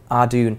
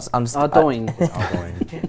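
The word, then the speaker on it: Ardougne: Ardune. I'm still not. Ardoin. I'm not giving in. It's Ardune. I refuse to give in.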